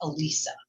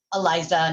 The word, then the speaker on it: Elisa: It's with an E. It's Lisa with an E in front, but said Elisa, right? Elisa. Not Eliza, not Elisa. I hate when people do that one. Elisa. It's not Elisa. It's Elisa. Yeah. Mike, you listening? Brian, JFK, it's Elisa. Elisa. That's how you say it.